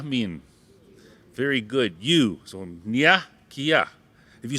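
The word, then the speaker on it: niya: Say Nia. Yeah. Now, if you spell that N-I-Y-A, Nia.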